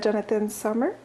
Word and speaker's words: Jonathan Sommer: Bon, ben merci beaucoup, Jonathan Sommer. Est-ce que je l'ai bien prononcé?